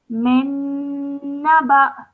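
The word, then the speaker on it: من نبإ: Min naba. Min naba. Yes. So because of the Hamza and it has a sukoon on it, you make a slight jerk sound when you are joining the ba to the Hamza.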